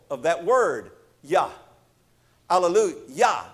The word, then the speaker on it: alleluia: of that word yah allalu yah the last syllable is actually the first syllable of god's name yahweh in the hebrew language